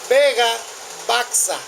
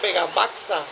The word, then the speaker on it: Vega Baxa: Escriben Vega Baxa, pero la X es una J como México. Se pronuncia como J, no se pronuncia como X.